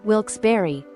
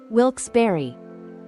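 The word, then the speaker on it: Wilkes-Barre: of the trickier ones wils Berry it's not Wilks Berry and it's not wils bear it's actually wils Berry this one is often mispronounced because of the spelling the e at the end gives it that Berry sound it's a bit confusing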